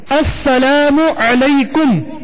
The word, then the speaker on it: السلام علیکم: والا سن لے۔ سلام کا جواب کا درست تلفظ یاد فرما لیجیے، السلام علیکم، السلام علیکم، وعلیکم السلام، السلام علیکم ورحمۃ اللہ